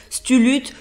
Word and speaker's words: Cthulhu: Cthulhu, pour ceux, ça ne doit pas se prononcer comme ça, Cthulhu, c'est une entité dans